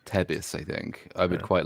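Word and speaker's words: Thebes: the place that everybody calls thieves but is actually pronounced Tebis.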